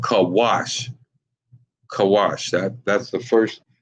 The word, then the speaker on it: Cush: They are Cushites, and they're called Kawash.